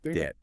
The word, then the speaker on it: debt: or words that seem to defy phonetic logic like night with its silent K or debt with its silent B.